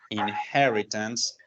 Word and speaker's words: inheritance: apply the concept of inheritance to a real life situation. Okay. La pronunciación. Esta H sonaría como una J. Entonces digo inheritance.